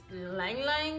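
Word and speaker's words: ylang-ylang: top notes i'm going to be reading is ylang ylang is how you say it neroli bergamot vanilla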